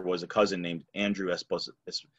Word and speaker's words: Esposito: And his partner was a cousin named Andrew Esposito. In Italian, say Esposito, but it's Esposito, of course, in America.